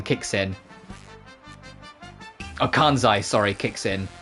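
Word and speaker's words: Kansai: She has like a very flat Japanese voice, but then every now and then a bit of kansen kicks in. Oh, kanzai, sorry, kicks in.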